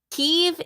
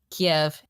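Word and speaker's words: Kyiv: did you notice that Kiev Kiev is the Ukrainian pronunciation Kiev is the Russian pronunciation just pointing that out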